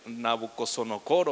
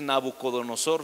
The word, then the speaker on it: Nabucodonosor: cuando saben quiénes nabucodonosor hay personas que no saben pronunciarlo bien nabucco song o core o cosas así pero es nabucodonosor fue el rey bueno